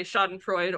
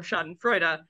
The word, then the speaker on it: Schadenfreude: And then got into an argument about whether you say Schadenfreude or Schadenfreude. And so I sent back, also, you could pronounce it the other way.